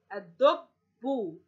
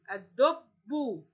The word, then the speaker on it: الدب: فتصبح مثل باقي الكلمات، إن اللام لا تنطق، والدال سوف نضع عليها الإيه؟ الشده. طيب هنضع للشده تبقى شده وفتحه ام شده وضمه ام شده وكسره؟ هنا نضع عليها شده وضمه. لماذا معلمتي؟ لان حرف الدال في كلمه دب عليه ضمه، فستكون الشده شده وضمه. ولاحظوا معي نطق هذه الكلمه، ستكون ادو اد ادو، الاول ساكن والثاني ياخذ حركه الايه الضم.